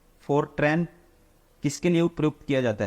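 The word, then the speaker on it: FORTRAN: ठीक है, formula translation, इसका प्रोनाउंसिएशन क्या होता है, फोरट्रैन, ठीक है, फॉर्मूला ट्रांसलेशन, ऑप्शन 1।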